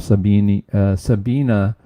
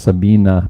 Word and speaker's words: Sabine: Sabina, I think, is the way they pronounce it. I was told I was pronouncing that wrong by one of my viewers, but I think it's Sabina, but it's spelled with an E at the end.